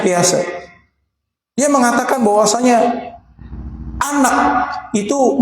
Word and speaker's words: Piaget: Ahli psikologi Barat yang namanya Pease, tulisannya Piaget ya dibacanya piase.